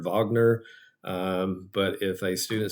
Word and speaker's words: Wagner: Uh the classic answer in the rules is uh the German composer is his German name is Ricard Vagner.